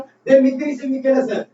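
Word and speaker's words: Δημήτριος Βικέλας: तो यहाँ पर गलती लिखने में हो सकती है, लेकिन जो उच्चारण प्रोनाउंसिएशन कर रहा हूँ देमित्रिस विकेलस।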